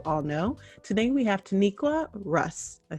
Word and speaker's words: Taniqua: Today we have Taniqua Russ.